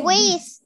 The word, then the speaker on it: with: Quiero decirles algo, chicos. Esa no se dice with. Okay? Esa no se dice with. Escuchen. Es with. Exacto, Katherine. Mire, vea mi lengua. With. Saque usted su lengüita y empuje el aire. With. Muy bien. Ese es un sonido especial, chicos.